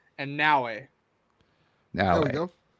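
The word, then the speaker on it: Naoe: You can let me finish the sentence and then you can tell me how to pronounce. It's Yasuke. Yasuke and Naue. There we go. Naue.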